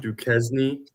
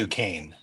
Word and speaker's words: Duquesne: Duquesne, Pennsylvania, Yeah. and it looks Duquesne. close is it? Closer than Also, just I don't mean to correct you, but He's that's the judge. I pronounced win. Duquesne.